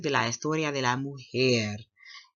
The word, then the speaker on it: mujer: up a vocabulary Oh mujer Moo hair so this word you pronounce it like what the cow says Moo and as humans we have here Moo hear me which means what a